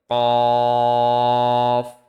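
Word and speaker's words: ك: জিহ্বার গোড়া তার বরাবর উপরের তালুর সঙ্গে লাগিয়ে উচ্চারিত হয় কফ। কফ। তো কাফের উচ্চারণ হচ্ছে জিহ্বার গোড়া থেকে একটু আগে বাড়িয়ে তার বরাবর উপরের তালুর সঙ্গে লাগিয়ে উচ্চারিত হয় কাফ।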